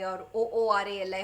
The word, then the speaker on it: Uruli: region they are the uruli tribes uh u r u l i r o o r ali however you want to pronounce it now these people were